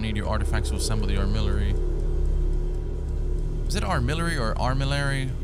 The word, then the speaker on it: armillary: The armillary, okay. That's how you pronounce it.